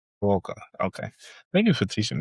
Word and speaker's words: Kawaoka: Kawaoka. Kawaoka.